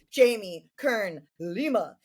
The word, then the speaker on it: Jamie Kern Lima: Jamie Kern Lima.